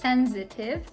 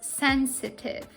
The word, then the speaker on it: sensitive: with the adjective sensitive this adjective is not pronounced with z so you shouldn't pronounce it as sensitive which is a very common pronunciation mistake the correct pronunciation is sensitive the basic meaning of